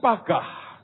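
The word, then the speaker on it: פגע: Nah, tahukah Anda bahwa kata interseed atau intercession atau syafaat itu dari kata Ibrani pagah. Tulisannya paga a bacanya pagah.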